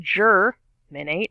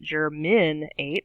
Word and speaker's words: germinate: number four germinates germinates three syllables on germinate german eight stress on the first third jur men eight not german eight or germinate germinate and germinate is